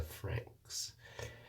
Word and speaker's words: Franxx: I'm talking about Darling in the Franks. Frank. And Frank, the way they spell it is FRANXX.